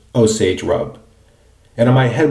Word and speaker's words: Osage: So, I believe that this is pronounced Osage Rub. And in my head, what I always hear in those cases is something like, oh, sage rub.